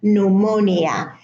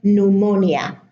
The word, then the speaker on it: pneumonia: In English, the P is silent at the beginning of the word: psychology, psychiatry, pseudonym, and pneumonia.